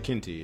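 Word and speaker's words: Quinte: or Ryan Williams the conservative in Bay of quinty is that how you say it Bay of Quint Bay of kinty yeah Bay of B of kinty okay and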